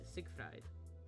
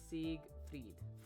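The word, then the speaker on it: Siegfried: Sig fre yep fried Sig fried nope it's Sig freed fre because that looks German and so the second letter gets pronounced instead of the first letter okay let's go a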